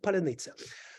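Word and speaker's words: паляниця: in Ukraine it's called palanica so ukrainians are telling Russians can you say paleniza they're saying no we cannot and when they're trying to pronounce the words they are reducing vowels and it is immediately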